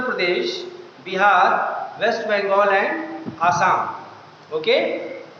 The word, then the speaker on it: Assam: Okay, waste Bengal and आसाम, or we can say Assam. Nowadays we pronounce it Assam.